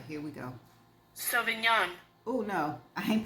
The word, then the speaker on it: Sauvignon: Sauvignon. Oh, no, I ain't pronounced that right. Sauvignon.